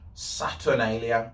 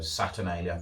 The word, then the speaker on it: Saturnalia: in with it all saturnalia i think that's how you pronounce it saturn a and then l i a so saturnalia that's what i'm going for so in rome where